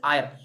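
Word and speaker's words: Eire: The word, how you are to pronounce the word, is IR, E-I-R-E.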